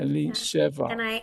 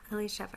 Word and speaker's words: Elisheva: Elisheva. And I'm apologizing in advance because I also want to have to run to go get a kid. But yeah, Elisheva rhymes with whatever.